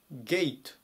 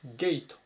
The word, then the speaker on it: gate: いきます 924 番ゲイトゲイトよくカでゲートって伸ばして言うんですけども発音はゲイトが正しい発音になります門とか出入り口